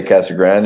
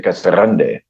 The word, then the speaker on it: Casa Grande: of the city uh officially K Grande so it's Spanish and and you have you roll the r but a lot of the locals just say Cagan there's no e on it it's just Cagan so if you if you want to be lazy you just say Cas Grand if you want to work at it you say C Grande mayor we have a